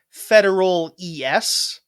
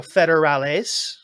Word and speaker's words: federales: It's a subtle like they like in the proper dialect you pronounce it with a bit more of an S sound at the end, whereas we are lazy and just cut it out and don't do that.